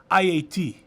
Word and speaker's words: Haiti: if you if you for the interest of pronunciation it's IAT IAT if you want to say it like a Haitian but here in America we say Haiti anyways where did that